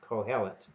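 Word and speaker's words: קהלת: That's how I understand you are to pronounce it, Kohelet.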